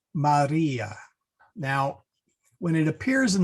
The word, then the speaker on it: Maria: R is rolled a bit, similar to Spanish. So we don't say, well, you can say Maria, but that's a little, what shall we say? Low class. Yeah, there we go. We want to say Maria.